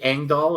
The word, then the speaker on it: Engdahl: me uh on Amazon the last name is uh kind of weird it's Swedish so it's spelled in a way you probably wouldn't imagine it's e n g